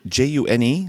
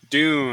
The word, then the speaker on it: Dune: is this a June? June? Dune.